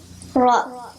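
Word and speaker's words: راء: Ra. No, there's a alif sound that makes it longer at the end. Ra. Ra. Yes. And the ra has like a rolling of the tongue.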